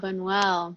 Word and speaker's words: Buñuel: I don't know how to pronounce the public theater piece. Is it Buñuel? Ah, Buñuel.